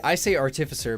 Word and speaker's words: Artificer: Artificer. Don't you mean Artificer? I say Artificer because it's artifact. You know? They're a mancer of artifacts. So Artificer. It doesn't really matter which way you pronounce it, but anyway, Barbarians are big beefy boys.